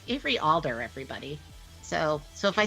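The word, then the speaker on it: Avery Alder: there you go and i think i said avery adler at the beginning of this it's every alder everybody so so if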